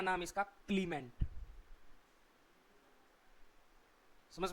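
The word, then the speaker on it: Clements: सी एल ई एम ई एन टी एस क्लीमेंट सी कै की pronunciation कर रहा है यहां पे।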